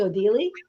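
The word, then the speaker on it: Odele: I tell you something I had to look up how you say it because it's actually in other language it's called it's called German it's it's odeli and it's I've been heard it called oh daily and so I went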